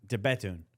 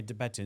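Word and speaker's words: De Bethune: How do you pronounce it? De Betun.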